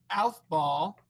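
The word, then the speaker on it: Aufbau: last two scientist names the first one is alph ball okay um and his name is spelled a-u-f-b-a-u so his principle was that you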